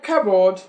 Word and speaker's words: cupboard: Then in the word cupboard, the right thing to say is just cupboard. Everybody say cupboard. Cupboard. Cupboard. Cupboard. Never cupboard.